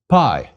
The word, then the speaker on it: Pi: on the cron all pi PI is equivalent to the P in PI please repeat pi PI